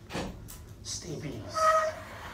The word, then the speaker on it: stapes: Stapes, pronounced stapes.